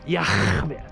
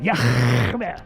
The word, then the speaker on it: Yah: His name is Yah. That's how you pronounce it. Yah.